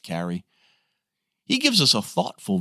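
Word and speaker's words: Carew: and freedom Thomas Carrie the name looks like Karu but it's pronounced Carrie he gives us a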